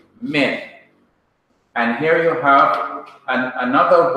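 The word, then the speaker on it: מִן: First of all, you have min, the preposition meaning from, mem, hirik, nu, min.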